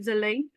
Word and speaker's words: Jwlwi: the screenings and uh the movie is rightly pronounced as Zel.